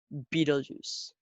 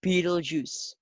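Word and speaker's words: Betelgeuse: hugest stars beetlejuice yes beetlejuice like beetlejuice like a juice drinkable juice which is made of beetles yuck that's gross but it's not spilled that way it's spelled this way be tall juice so although it is called beetle juice its spelling is totally different anyways beetlejuice is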